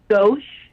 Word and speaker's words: Gauche: Gauche, Gauche. like the Frank word left.